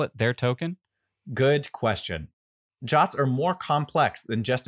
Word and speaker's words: JWT: Firebase Auth deals in JSON web tokens, known as JWTs, pronounced JOTs. These underpin every Firebase user, whether they're signed up with email, phone, Google, or any other IDP.